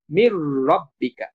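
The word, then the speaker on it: من ربك: তখন মিমটা সরাসরি র কে ধরবে, মির রব্বিকা। নুনটা যেহেতু র এর সাথে যুক্ত হয়ে গেছে তখন র কে আমরা দুইবার উচ্চারণ করব, এই কারণে এই তাসদীদ চিহ্নটা দেওয়া হয়েছে।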